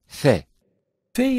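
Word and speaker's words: ف: is a strong consonant phae-phae is pronounced when the edges of upper teeth touched the wet portion of lower lip it is a weak consonant but cuff is articulated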